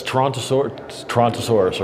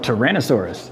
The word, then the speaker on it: Tyrannosaurus: Got a Now that's Toronto Tontosaurus, right? No. Tyrannosaurus. Tyrannosaurus. Tyrannyosaurus Rex. What is there a difference? Did I pronounce it wrong?